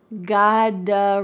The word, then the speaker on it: gotta: And a quick little pronunciation tip is that in American English, a T that is surrounded by vowels often changes to a D sound.